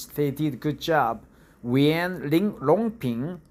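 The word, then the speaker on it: Yuan Longping: Yuan, longpin, right? Longpin, Yongpyeong in Korean. One Yongpyeong, right? We pronounce it one Yongpyeong, but Chinese pronounce it Yuan longpin.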